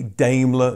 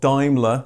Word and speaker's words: Daimler: Yes, I know that Brits say Daimler, not Daimler. Well, I do now that you've made it very clear in the comments. I'm very sorry, I said it wrong.